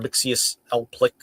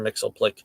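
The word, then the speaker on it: Mxyzptlk: Mixelplick, as some people call him, Mr. Mixius L. Plick, or something like that. I don't know. I mean, I have my own. The way I read these like unpronounceable names is whatever my mother said when she read them to me as a kid. She said Mr. Mixelplick. He's Mr. Mixelplick. That's just the way it goes.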